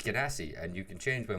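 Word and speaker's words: Genasi: and uh uh water ganassi or china um or guinness i don't wanna whatever you're gonna call no one knows how to pronounce it um it's gedassi and you can change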